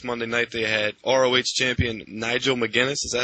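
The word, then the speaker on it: Nigel McGuinness: uh this past Monday night they had Champion Nigel mcginness is that how you say it yep Y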